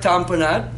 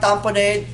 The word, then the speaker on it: tamponade: spell it cardiac heart tamponade or tamponade Dom da M PS it papa oh and a de like Gatorade name company or tamponade okay so if you